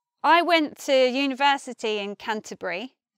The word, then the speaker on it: Canterbury: I went to university in Canterbury. I say it like that with three syllables, but some people might say Canterbury, Canterbury.